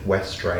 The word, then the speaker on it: Westreich: The last name Westreich is confusing for a lot of people, so pronunciation Westreich.